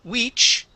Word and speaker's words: which: Uh, let's go to the word which instead of we which. Okay, you're using a Spanish I. Okay, we're going to use a short I here. The word is which.